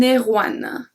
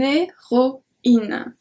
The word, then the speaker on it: héroïne: If there is not the tréma, we will say une héroïne. Une héroïne. Which does not sound good. But because there's the tréma, we have to pronounce the E. So it's une héroïne.